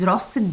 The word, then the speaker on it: roasted: Here, she greeted, the final ed here is pronounced as id. Roasted, of course, we pronounce it id also.